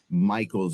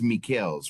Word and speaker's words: Michels: And, I would pronounce this Michael's over here, but it's Michels, right?